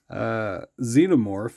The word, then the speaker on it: Xenomorph: Xenomorph is spelled with an X, and it sounds like a Z or a Z as we would call it in Canada.